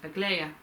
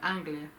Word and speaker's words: Aglaya: Aglaya, and I kept calling her name wrong in the stud. I kept calling her Anglia.